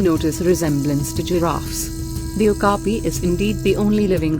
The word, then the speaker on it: okapi: the Okapi pronounced Okapi is beautiful and unusual with its white and